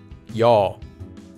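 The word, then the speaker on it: ㅕ: Now we can hear that this vowel has the sound yaw. You can think of this sound as a combination of the vowel e with the vowel o said quickly. E would become yaw.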